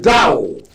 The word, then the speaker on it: Dow: ever sent yourself down it is Dao d-o-w Dow Jones index thank you okay at